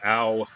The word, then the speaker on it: Ao: So the overgod, Ao, that's spelled A-O, he took away their immortality and made them wander the earth as mortals.